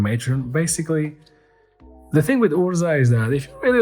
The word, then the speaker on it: Urza: Or Urza. There's a pitch in the pronunciation that I'm not quite getting, and it's really bothering me. Urza. Yeah, there you go.